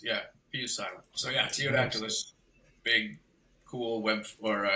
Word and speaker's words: Ptyodactylus: Teodactylus. Gotcha. I mean, you can say taio, you can say to either way. The P, anytime the P comes before like a weird letter.